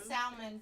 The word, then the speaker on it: salmon: right so it's a salmon for you oh yeah if you pronounce the l in sound get out of here get out of here you don't like that no salmon yeah that's completely ignorant